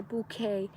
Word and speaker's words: bouquet: you put things together it becomes a bouquet see the tea is silent uh or she's really